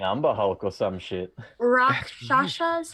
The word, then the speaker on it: Rakshasa: Rakshasas?